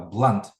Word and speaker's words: blunt: Так, в таких словах через А. Blunt. Як автобус. Бас.